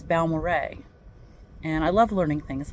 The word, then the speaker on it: Balmorhea: in West Texas and I learned how to pronounce that just recently if you look at it it looks like balara but apparently it is named for two gentlemen balmo and Ray so it's balore Ray and I love learning things like that because